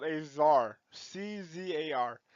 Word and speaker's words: czar: above is called a czar see ZAR it's pronounced czar like little Caesar but not Tsar the word actually comes